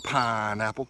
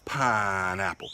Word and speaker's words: pineapple: today is smoke a pineapple it's funny when you say it like that stress that first syllable pineapple I got it oh